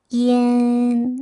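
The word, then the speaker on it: yan: 알파벳 IAN은요. 이엔이라고 소리 냅니다. 이엔. 네, 많은 분들이 이안으로 읽거든요. 이안이 아니라 이엔이라는 거 유의해 주셔야 돼요.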